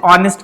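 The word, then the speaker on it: honest: ऑनेस्ट की spelling क्या होती है? एच से होती है। ठीक है? लेकिन इसके आगे हम लोग एन ऑनेस्ट लगाते हैं। क्यों? क्योंकि हमारी प्रोनाउंसिएशन क्या है? ऑनेस्ट।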